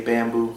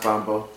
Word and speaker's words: Bambo: bambo it's spelled b-a-m-b-o a lot of people like to say bamboo but it's bambo it's pronounced bombo that name was given